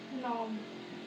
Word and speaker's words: नोब: नोब ये साइलेंट रहता है। कन मत बोलना।